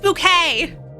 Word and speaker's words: Bouquet: Bouquet. It's pronounced bouquet. It's like literally bucket.